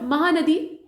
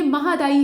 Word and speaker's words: महादायी: और महानदी, माफ़ कीजिएगा, ये महादायी है, यहाँ पर गलती से प्रोनाउंसिएशन हो गया, महादायी है, ये नदी दूसरी है, महानदी नहीं है।